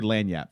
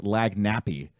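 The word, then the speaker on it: lagniappe: No, if you say it correct, if you say lanyap, 'cause Lanyap. the way it's spelled, most people say lag nappy. And that's when we know you're not from there.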